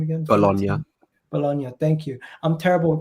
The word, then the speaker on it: Bologna: in italy uh right for how do you pronounce that name again bologna thank you i'm terrible with pronunciations guys if